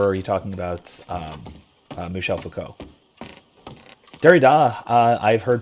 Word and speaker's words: Michel Foucault: okay i promise it'll be okay but yeah michel foucault is that's that is how that's pronounced and but the cultium is the uh